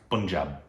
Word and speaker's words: Punjab: I've been told it's pun. Punjab.